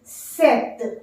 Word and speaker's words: cet: can't use sir and instead of sir you have to use set cet set said to be